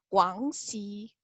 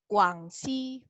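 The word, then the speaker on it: 广西: Dengerin ya cara bacanya. Xizang. Lagi. Xizang. Kemudian nomor 2, nih, Guangxi. Guangxi.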